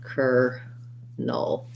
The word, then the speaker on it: kernel: pronounced like this but it's just an er and a null with a dark l with a schwa kernel sounds like ker null for more details you